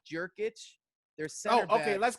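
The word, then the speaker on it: Jokić: It's a Y. I thought it was pronounced a J.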